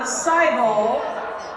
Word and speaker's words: Seibel: So let us bring up to the stage Dr. Seibel, which rhymes with Bible. That's how I remember it.